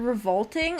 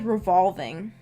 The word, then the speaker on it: revolting: I would always pronounce, like, that word is in the Harry Potter books a lot, I think. And I always pronounce it as revolving. And my mom would always be like, that's not right.